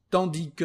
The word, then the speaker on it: tandis que: Tandis que o tandis que, unos pronuncian la S, otros no, entonces eso no es una regla, como quieran, tiene el